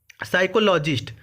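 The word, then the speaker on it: psychologist: ए से हो जाएगा, साइकोलॉजिस्ट। साइकोलॉजिस्ट, देखिए साइकोलॉजिस्ट की स्पेलिंग भी पूछी जाती है, पी से शुरू होता है, पढ़ते हैं साइकोलॉजिस्ट।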